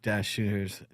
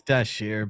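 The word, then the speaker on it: Dashjr: So tough times ahead for Luke Deshier's node. Is it really tough time? It's Dashier, but it's spelled with a JR in it, so it's confusing to everyone. It looks like it should be Dash.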